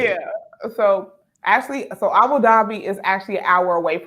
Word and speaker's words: Abu Dhabi: But I ended my teaching career in the Middle East in Abu Dhabi.